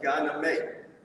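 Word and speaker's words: Gye Nyame: this symbol stands for peace this symbol is pronounced gyname which means god above all i think that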